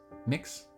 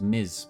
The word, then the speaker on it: Mx: iter I like MX mix I don't know how to pronounce that I I I would pronounce that as Miz because MX X is z in my brain unless it's mix NX